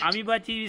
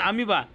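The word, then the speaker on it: amoeba: अमो इबा लिहायचं वाचायचं अमीबा अमीबाची स्पेलिंग विसरायचं अमीबाची स्पेलिंग विसरायचं दोन हजार रुपये मिळवायचे लिहा लिहिलं का अमीबाची spelling is similar to अमीबा अमो इबा लिहायचं अमीबा वाचायचं ठीक आहे बघू कोण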